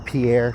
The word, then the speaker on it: Pierre: It like it takes me as near as my pier which is uh or Pierre Pierre whatever. So it's it's spelled like Pierre but I think we say it pier anyway.